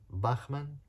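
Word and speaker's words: Bachmann: the head of interior design was uh Martina Bachman Martina bakman which is spelled b a c h m a Ann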